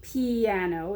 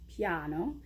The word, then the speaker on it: piano: version of itself so it's not piano in Italian it's piano so it sort of goes